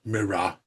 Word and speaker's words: Mira: You forgot to mention that it's Mira. Um, I thought I pronounced it Mira, and I'm not from like New York or Boston, so I hit my R's. I would have said mirror.